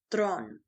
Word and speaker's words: Theron: goes by chariss thin but the way she pronounces it in Africans is thron she learned how to speak English from watching